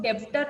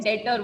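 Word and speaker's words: debtor: ये डेटर में B silent रहता है तो हम इसको डेब्टर नहीं बोलते हैं, डेटर बोलते हैं, ठीक है।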